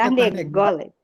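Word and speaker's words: תרנגולת: Sabe por que Tarnegolet? Porque aqui tem um segola, olha, o segola está meio que dando uma dica de que a sílaba tônica é o gó, tá?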